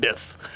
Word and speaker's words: Bith: It rhymes with Sith, but with a B. What, is Zuckuss one? We were talking about Zuckuss earlier. Zuckuss. Yeah, no, okay. It's not Forlorn. Bith.